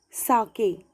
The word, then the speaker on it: sake: Okay, because of that, the father felt very cold and he wanted to have a soup like liquid, that is sake. Okay, it is pronounced as sake.